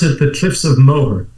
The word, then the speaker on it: Moher: We pronounce it the Cliffs of Moher. Moher.